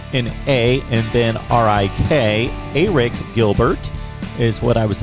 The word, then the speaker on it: Arik: I learned last night how to pronounce Arik Gilbert's first name. I had always called him Arik Gilbert, but of course it is with an A and then R-I-K. Arik Gilbert is what I was instructed to pronounce his name.